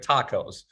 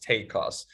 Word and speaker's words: TACoS: costs total advertising costs like tacos but it's it's pronounced take costs take cost should be between